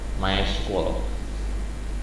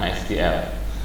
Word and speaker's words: MySQL: Nah ada juga my itu ejaannya adalah MySQL sebetulnya membacanya adalah my my school my school ini adalah contoh-contoh salah satu dari dbms orang kita sering menyebutnya msgl kemudian ada lagi Eh